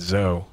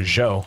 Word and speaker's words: Zhou: I mean, there's no way that Schwan and Zoe, or Zhou, I guess is the more correct way to pronounce it.